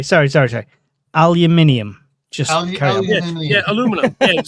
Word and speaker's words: aluminum: Aluminium just yeah aluminum. Yeah, exactly. That's what I said. Aluminum. Alum m i nu m. There is no ium in there.